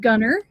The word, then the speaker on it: Gunter: North Texas town called Gunner. If you were to look it up on a map, it's spelled Gunter. But if you're actually from Gunner, you call it Gunner.